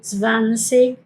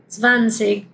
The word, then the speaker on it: zwanzig: Y eso varía mucho, por ejemplo, el zwanzig. Zwanzig, que significa 20. Eh Zwanzig o zwanzig. Zwanzig o zwanzig. Ambos están bien. He escuchado las mismas personas pronunciando de las dos maneras y de lo que